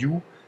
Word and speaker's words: Ю: la fois euh les aspects sensoriels de la prononciation du youu et le côté visuel qui ce qui ne